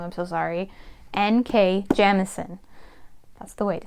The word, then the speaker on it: Jemisin: I have been saying her name wrong, I'm so sorry. N.K. Jemisin.